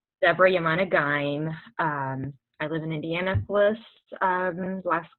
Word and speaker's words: Debora Yemane Ghaim: Deborah Yamana Gaim.